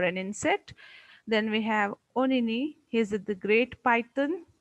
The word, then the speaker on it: Onini: Then we have Onini, he is the great python.